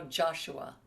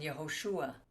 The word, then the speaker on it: Yehoshua: Especially when they translate it, like there are no J's in Hebrew. There's no Joshua. It's Hosea and Yehoshua.